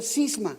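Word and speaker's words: σχίσμα: el original griego es una palabra que se pronuncia cisma como el nuestro una más que cisma con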